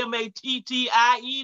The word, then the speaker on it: Mattie: But my name is Mattie, M-A-T-T-I-E. The second T is silent.